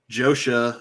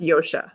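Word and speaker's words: Josha: the the four kids are this guy josh joshua it's he's actually pronounced yoshi yoshi yoshi dradowski plays rand and then you've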